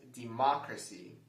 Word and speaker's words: democracy: let's move on so the correct answer for this word is the second pronunciation where we stress the second syllable which pronounces it as democracy democracy so those are the two